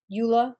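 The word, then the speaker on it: EULA: for enduser license agreement Ula that's the way I pronounce it is the license between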